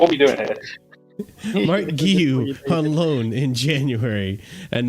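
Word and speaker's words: Guéhi: Hey Blues, this is how to say my name, Mark Guehi. Mark Guehi.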